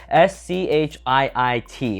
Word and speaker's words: Schiit: That is spelled S-C-H-I-I-T. It is pronounced Schiit, that is correct.